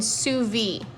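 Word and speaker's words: sous vide: slow cook steamed and Suvi if you didn't know how to pronounce that it's called su v i actually used to do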